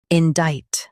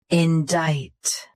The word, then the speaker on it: indict: Today, we will learn how to pronounce the word shown on the screen. Indict. Both US and UK have the same pronunciation of this word. Stress in. Keep dite crisp, not dite. Indict.